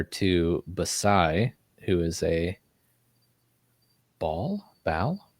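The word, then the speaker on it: Baal: I've always heard is Bale but Bale Bale but that's the pronunciation I've always heard but I think it's actually ball ball ball ball it's like a baller ball yeah it's not late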